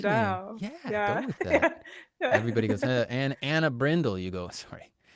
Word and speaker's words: Anna Brindle: Is it Anna Brindle. Yeah. Does it ever get I mispronounced?